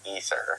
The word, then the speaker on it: Aether: And then we learned that Canon in Diablo I despite it being spelled AE T H E R, it's actually pronounced Ether, uh thanks to Mh